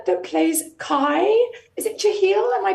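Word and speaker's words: Jahleel: First of all, the actor that plays Kai, is it Jahil? Am I pronouncing his name correctly? Jalil.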